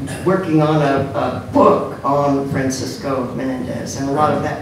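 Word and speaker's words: Francisco Menéndez: Francisco Menendez.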